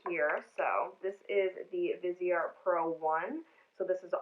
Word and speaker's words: Viseart: i have to mention is viseart so vizier is spelled like this in case you were